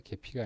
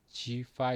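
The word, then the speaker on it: Gephi: 하우스 입을 수 있겠는데 개 피가 아니고 언어로 발음은 지파 입니다 쉬 지오그래픽 예 파 입니다 지파 l 그렇지 파일을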